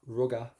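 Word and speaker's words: rugadh: If you want to just go up to the letter A, ruga, that's perfect. You've got loads of ways of pronouncing this, but let's go for ruga.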